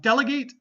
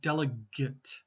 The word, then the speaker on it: delegate: yep delegate okay um by the way this one has two pronunciations um I forget which one I did before um delegate and delegate delegate verb delegate noun